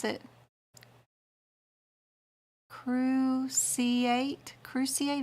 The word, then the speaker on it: cruciate: pronounce it crew C8 cruciate is like the cruciatus curse just a little bear